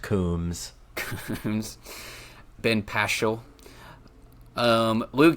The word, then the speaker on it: Combs: It's No, I've never heard pronounced- It's pronounced Coombs.